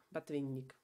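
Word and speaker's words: Botvinnik: La diferencia es que la O no acentuada se pronuncia como A, por eso Kasparov, A, ¿no? Batvinnik.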